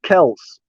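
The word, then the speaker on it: Kelce: to say nothing but yeah it's actually travis kels travis kells that's what is happening now i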